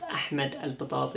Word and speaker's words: Ahmed Al-Batati: My name is Ahmed Al-Batati, pronounced Ahmed Al-Batati in Arabic, but that's not what's important.